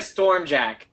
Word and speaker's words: Sturm Jaq: going to target at sturm strum I don't know I keep just differently pronouncing your name Thanks it's like storm jack yeah and he's gonna